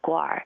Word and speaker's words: guar: And the central one is a guar. It's a very, very large cow-like animal, but it's much, much bigger. And guar, I think, is the correct pronunciation.